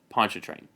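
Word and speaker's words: Pontchartrain: specifically how to pronounce Pon train it is not spelled like it is pronounced it is spelled p o n t c h a r t r a i n Ponch train make sure you say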